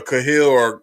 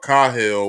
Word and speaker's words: Cahill: I've been saying their name wrong. It's Judge Cahill. I was calling him Cahill or Cahill, whatever. I'm sorry for that. I'm cleaning that up now. It's Judge Cahill, and it's also the other officer whose name